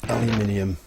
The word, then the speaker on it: aluminium: Not when you can make them with aluminium. And I'm pronouncing it the English way and not the crazy other ways that it can be pronounced.